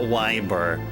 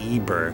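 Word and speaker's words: Ybor: It's not Wyber. It's it's Eber apparently.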